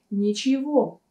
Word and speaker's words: ничего: ничего ничего опять таки здесь вы можете заметить что букву м мы произносим как вы ничего ничего ну а как